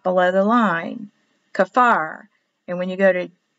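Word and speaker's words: כפר: village of whatever and it's kafar on the sign but a lot of times when they speak to you about where something is a destination they leave off the ka and they'll say far far so the signs will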